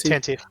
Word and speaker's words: Tantive: How you pronounce it? Tantive.